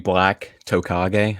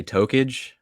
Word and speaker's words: Tokage: Like, it was supposed to be Black Tokage. It's more of a Naruto reference. My friends say Tokage.